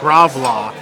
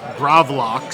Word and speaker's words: gravlax: the Alaska itinerary, uh there is what I say gravlax, but but I was corrected by the server. He said gravlox. Oh, gravlox. It's actually spelled like it would be Like lox and bagels, right?